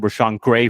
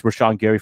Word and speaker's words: Rashawn Gary: I said Rashawn Gray for some reason. I guess my eyes are really bad, and that's why I'm wearing glasses, but it's Rashawn Gary from Michigan.